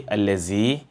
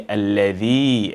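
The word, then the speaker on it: الذي: Do not say allazi. Remember to say alladhi, and know that there are two different letters. Each of them have different characteristics, and each of them must be pronounced differently.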